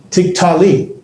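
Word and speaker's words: תִּקְטְלִי: And so this would be pronounced, tiktali. Tiktali. The tik is one syllable, ta, that's a vocal shavah, and li would be one syllable, tiktali.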